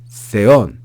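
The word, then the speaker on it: θεόν: logos ein pros ton theon. Make sure you pay attention to those accents. Theon. We then have the word kai again.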